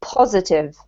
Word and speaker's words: positive: Don't forget, positive has the emphasis on the first syllable, so positive Positive, as well, and the same with negative, right?